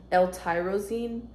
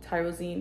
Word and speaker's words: L-tyrosine: It has immunity and prebiotic complex, mood enhancer matrix, L-tyrosine, I believe is how you pronounce it. Tyrosine, yeah.